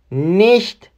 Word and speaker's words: nicht: میگه نا یعنی نه نیشت سانسش نیشت مثل ایش میمونه س ها مثل ایش تلفظ میشه نیشت یعنی بیست نیستش